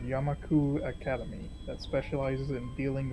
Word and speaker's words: Yamaku: Yamaka. I always said Yamaka. I just did not notice the U. I thought that U was an A, and I just kept thinking it was an A, I guess.